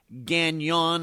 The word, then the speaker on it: Gagnon: Today we're going to look at the recent disappearance of Joseph Gon. I believe that's how you pronounce his name. G- A G N O N. believe that is French, although I don't believe he was French.